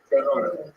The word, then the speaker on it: Gerona: I think Gerona is pronounced Gerona. Is that correct? Gerona? Gerona.